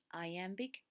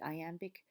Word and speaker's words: iambic: Sometimes he uses iambic pentameter. Iambic is the rhythm that goes da-da, da-da, da-da, da-da, where the emphasis is on the second syllable.